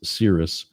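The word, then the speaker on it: Cirrus: Cirus systems later today that's not Sirius as in like the satellite company it's Sirus spelled with a c c i r r us they help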